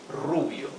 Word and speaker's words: rubio: hair Rubio for blonde remember to pronounce the r with a rough sound R okay Rubio because the r is